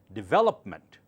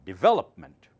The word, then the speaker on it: development: zero the next one correct it's development well louder D very gentle lopment development so do not say development or develop that sounds wrong it's development and develop